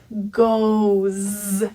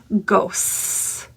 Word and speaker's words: goes: And the S is not an S at all. This is a Z vibration sound. Goes. Instead of ghosts.